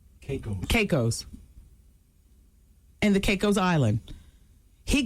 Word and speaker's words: Caicos: of the Turks and the how do you pronounce it shaco's Kate Caicos and the Caicos Island he got down on